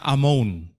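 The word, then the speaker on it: אמון: Tulisannya amon tapi bacanya amun yang artinya pelatihan, terampil, arsitek.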